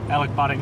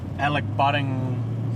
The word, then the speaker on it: Elachbutting: how to pronounce it I think it's Alec Alec budding rock L ACH we got to go